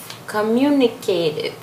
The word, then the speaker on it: communicative: pronunciar, é só lembrar, geralmente as pessoas não têm a dificuldade no começo da palavra, communicative. Elas têm mais no finalzinho. Geralmente tem um T entre duas vogais, eles pronunciam o T com som de R. Mas communicative.